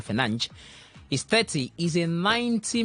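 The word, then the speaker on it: Fernandes: So Manchester United's Portugal midfielder Bruno Fernandez or he says the correct pronunciation of that name is Bruno Fernanch is 30 is a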